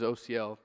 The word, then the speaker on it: Osiel: spelled like that but it's pronounced like the letters o C and L so just a good